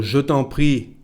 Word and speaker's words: je t'en prie: So, je t'en prie as tant. We pronounce that like one word.